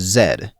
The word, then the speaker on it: Z: The first Mobius was Zed. Yes, I'm pronouncing it that way, so does the game, deal with it.